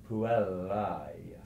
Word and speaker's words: puellae: So the Latin diphthong AE is pronounced like the English word I. AE is I. The Latin for the girls is puellae, A-E-I.